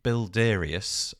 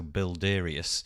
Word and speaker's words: Builderius: tool quite like this it's called bildarius again apologies if i've pronounced that incorrectly but the spelling of it is easy it's builder with ius so bilderius um and the website